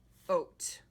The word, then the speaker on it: oat: There are two opening mouth letters, O, A. Only the first one talks. A is going to be quiet. So this says oat. Oat.